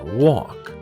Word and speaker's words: walk: the brother and sister walk l is a silent l because it's right falls after a walk over the saints to